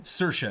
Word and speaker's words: Saoirse: this thing Saoirse Ronan Saoirse is how she pronounces it that's how Irish people pronounce that Siobhan is a different